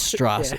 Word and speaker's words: Strauss: story of uh what's his name uh Lewis Strauss yes pronounce straw being a piece of and